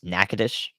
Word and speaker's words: Nacogdoches: on the day of so we'll see yeah Nacogdoches nakadish in Louisiana I've learned a lot but there's always learned more to learn about pronunciations where would I have positioned on last